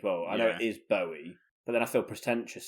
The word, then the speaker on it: Bowie: I think I say Bowie as well. I know it is Bowie, but then I feel pretentious saying it now. I I I read an article recently that said Bowie rhymes with Joey, so it definitely is David Bowie.